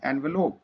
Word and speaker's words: envelop: एनवेलप की जो spelling है ENVELOP, ये एक वर्ब है, और एनवेलोप इसमें प्रोनाउंसिएशन थोड़ा सा चेंज होगा, ये एक नाउन है, बोथ स्पेलिंग्स आर करेक्ट।